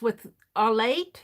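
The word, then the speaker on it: café au lait: and this one says cafe au laits which is with our late is how you pronounce that with cream in it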